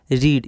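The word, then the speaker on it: read: रीड इसको रीड नहीं पढ़ेंगे इसको रेड पढ़ेंगे वी टू और वी3 में।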